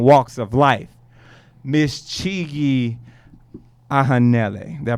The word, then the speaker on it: Ohanele: all facets and walks of life, Miss Chigi Ohanele. Did I pronounce that right? I messed that up. Yes, you I hit it? did. How about that? Ohanele.